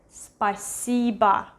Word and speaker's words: спасибо: Спасибо. This O we pronounce it as A.